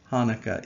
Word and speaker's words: Hanukkah: Sometimes you see Hanukkah spelled with a C before it, and you might want to pronounce it Chanukah, but that would be wrong. It is still pronounced Hanukkah, even with the C in front of it. The C is just silent.